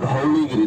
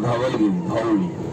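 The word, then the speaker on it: Dhauligiri: বলতে শুরু করে দিয়েছিল রিমেম্বার ধাউলিগিরি নর ধাওগিরি totally pronunciation means in French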